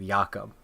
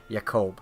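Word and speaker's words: Jakub: by the way, for anyone listening, I'm accidentally pronouncing it the the Scandinavian way of Yakub but it's Yakoub.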